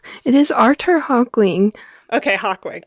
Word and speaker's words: Hawkwing: Okay, Hawkwing. I always call him Hawking, and that's not correct.